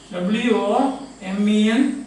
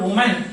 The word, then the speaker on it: women: But when you say W-O-M-E-N, how do you pronounce this? Not woman, but the women. Women. See this. This is pronounced as E. Women.